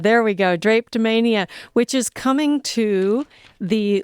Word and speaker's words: Drapetomania: Drapetomania. There we go. Drapetomania, which is coming to the London Nelson Center on June 6th at 7 p.m.